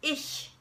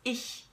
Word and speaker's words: ich: in German okay um now when you make that sound you make that sound when the CH is preceded by e eh eh mmm or I okay and I'll give you